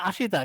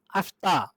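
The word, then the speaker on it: あした: তারপরে ধরেন এই যে এখানে দেখেন আ শি, এটা কি তা, তাহলে এটা হচ্ছে আশিতা, মনে হবে আশিতা কিন্তু এখানে হবে কি, আস্তা।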